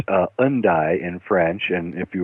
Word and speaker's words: Hendaye: Town actually and uh it uh it's actually pronounced uh undi in French and if you were British it would be endday like end day endday and uh this little